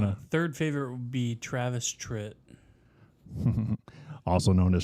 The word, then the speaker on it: Travis Tritt: Third favorite would be Travis Tritt. Also known as Travis Trent.